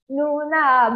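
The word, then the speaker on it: 누나: Nuna, bukan Nunu Nana. Aniyo.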